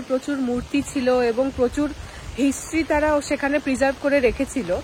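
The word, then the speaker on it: José: নাম হলো হোসে বারাডো হোসে স্পেলিংটা হলো জে ও এস ই জে ও এস ই টা এখানে আমরা বলবো জোসে এখানে উচ্চারণ হয় হোসে আর পার্কটা তৈরি হয়েছিল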